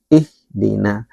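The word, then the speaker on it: اهدنا: Nah, yang sering kurang maksimal dalam bacaan kita adalah ee mengucapkan huruf ha. Ih. ini sering kurang maksimal dibacanya ih ihdina.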